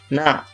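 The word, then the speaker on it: نَ: Nun bersambung ke kiri, maka ini membacanya adalah na, bukan za.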